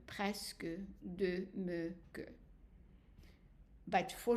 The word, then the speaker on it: presque: And the exception is quelque. So here, we pronounce the E. And then as we saw also, presque.